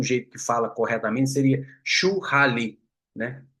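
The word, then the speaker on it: shuhari: Eh, acho que o jeito certo de falar seria chuali. Eh, porque o o eh, igual a gente fala lamen, não fala ramen, né? Mas eu tô tô a brasileirana aqui para falar churari, porque é o jeito que escreve, né?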